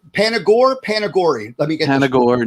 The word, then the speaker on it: Panagore: Let me get Panagore, no accent on the E. Panagore.